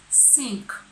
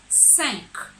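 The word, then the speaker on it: cinq: It is not sink, please. It is 5. That is number 5. So I take it again from number 1 to 5.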